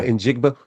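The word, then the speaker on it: Njigba: Naba, is that how you say his name? The uh the wide receiver for Yeah. In Jigba.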